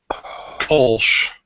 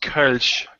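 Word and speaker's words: Kölsch: It's pronounced Kolsch. Kolsch. Whatever, dude. I'm an American. I call it Kolsch.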